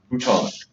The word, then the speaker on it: bouton: Bouton. It's pronounced bouton.